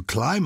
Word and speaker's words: climb: clambering up a mountain you climb a mountain yeah without sounding the bee but you clamber up